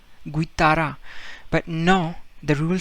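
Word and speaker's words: guitarra: now normally uh this uh word you would pronounce it as guitara right you would pronounce u guitara but no the rule says that whenever g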